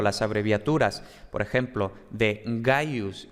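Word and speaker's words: Gaius: estas cosas no pero ojo no es cayó sino que es gallo entonces ojo no confundamos la abreviatura que es antes con la pronunciación real por cierto también dejaré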